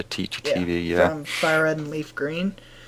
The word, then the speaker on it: Teachy TV: Yeah, Teachy, as in teacher, Teachy TV, yeah.